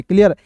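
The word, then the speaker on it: clue: CL है दोस्तों, CL को पढ़ेंगे क्लॉ, और UE आया इसका उच्चारण यू के रूप में करेंगे दोस्तों हो जाएगा क्लू।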